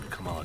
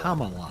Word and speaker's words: Kamala: Oh, Kamala Khan. But the former vice president was Kamala. Kamala. Yeah. Two, very similar but different Yeah. emphases.